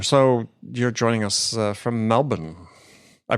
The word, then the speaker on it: Melbourne: you're joining us from Melbourne I pronounced that correctly right Melbourne Australia that's it yes there's no R in Melbourne despite despite how you see it spelled see uh we pronounce